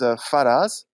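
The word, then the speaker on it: Faraaz: uh the the title of the film is faraz it's spelled f-a-r-a-a-z and it's directed by a great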